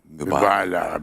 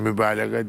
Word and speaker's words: mübalağa: olsa mübalag olur abi mübalağa böyle yükseltme İzam etme mübalağa demiyoruz mübalag mı diyoruz diyebilirsin diyebilirsin mübalag diyebilirsin gayı telaffuz etmezsen gır Doğrudur evok o